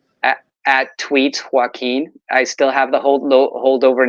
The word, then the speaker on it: Joaquin: That's JOAQUIN. Like Joaquin Phoenix.